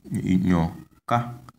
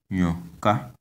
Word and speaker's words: nyoka: This word is pronounced nyoka, nyoka. You can see that the tone is on the last vowel a, so we have nyoka.